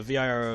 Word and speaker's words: Viro: risky pronounced well vira the v-i-r-o is viro and then vetorusky that's